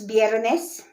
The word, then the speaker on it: viernes: Friday, that's viernes. That's V, but it's pronounced, B. So it's viernes. It's spelled V, but it's viernes.